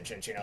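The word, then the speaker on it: Cinccino: All right, Cookie has evolved into function D or since, you know, I got to say chinchino like it's pronounced in the anime. I love using chinchino as well with either skill link or technician like tail slap and stuff.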